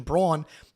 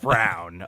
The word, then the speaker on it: Braun: Your name is Braun, dude. Like, what do you do? It is not pronounced Brown, okay?